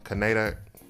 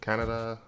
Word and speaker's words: Kaneda: He's part of a biker gang with his friend Kan- Kaneda. Kaneda. I'm trying to I always mispronounce his name.